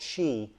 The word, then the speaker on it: Qi: into the phone wirelessly which is called Chi or Qi is pronounced QI charging however Apple added